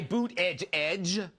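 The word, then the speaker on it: Buttigieg: too well then you have that young guy boot edge edge and you have a younger Buddha judge who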